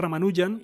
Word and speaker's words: Ramanujan: voy a pronunciar bien rama luján román doy am si lo suelen pronunciar ramanujan más despierto que por